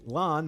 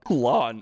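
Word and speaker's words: Lan: fell alike passed his ring to his son lon mandragoran and send him away i didn't even catch that pronunciation my first time through this video what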